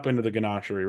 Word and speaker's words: Ganachery: And Eric, you have not been to the Ganachery, right?